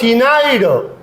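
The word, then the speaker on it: ctenoid: इसमें मौजूद है साइक्लाइड और टीनाइड, ये सी साइलेंट है।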